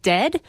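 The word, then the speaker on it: Dehd: stage at 2 30 called dead but it's d-e-h-d I didn't know how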